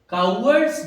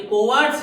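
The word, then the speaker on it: cowards: कावर्ड्स die many times before there deaths. इसका मतलब क्या हुआ कि जो कायर है, कावर्ड्स का मतलब क्या हुआ? कायर, ये कोवार्ड्स नहीं है, इसका प्रोनाउंसिएशन है कावर्ड्स।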